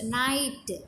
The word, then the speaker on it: knight: Next, knight, knife, king. So here K are the silent letters in knight and knife, and K is pronouncing in king.